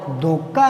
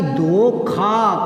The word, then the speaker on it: धोखा: आगे चलो, उस बेचारे के साथ धोखा हो गया, धोखा नहीं धोखा, खे खरगोश, धोखा।